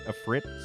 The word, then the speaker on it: Ifrit: Because it's I-F-R-I-T. You know, like in Final Fantasy, they have the Ifrit summon, and it's literally pronounced Ifrit, you know, or Ifrit. Ifrit, you know, whatever you want to pronounce it.